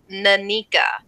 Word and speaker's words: Nanika: How it's pronounced is Nanika.